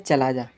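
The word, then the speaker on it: chalaza: पे कैलाजा लिखा है जिसे इंग्लिश में बोलते हैं चलाजा चलाजा शुद्ध हिंदी में कैलाजा और इंग्लिश में जब आप इसकी स्पेलिंग लिखो तो सी एच ए एल ए जेड ए होता है बी जो बीजांड के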